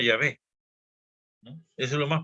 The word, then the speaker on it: Yahvé: Lo más probable es que se pronunciaba Yahvé, ¿no?